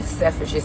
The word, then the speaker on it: Selfridges: I went to Selfridges today.